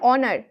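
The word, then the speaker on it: honor: কিন্তু এখানে অনার। এটাও একটা এক্সেপশন। এখানে আমাদের উচ্চারণটা অনার মানে হলেও এখানে কি হয়? এইচটা সাইলেন্ট থাকে। ইংলিশে এখানে এইচটা সাইলেন্ট থাকে।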